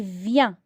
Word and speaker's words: vient: Il vient. Je ne prononce pas la lettre T.